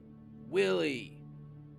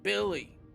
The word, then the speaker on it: Willie: Like, in this corner we've got Willie, and he mispronounced his name, Billy, the South Side Brooks. It's Willie, you fool.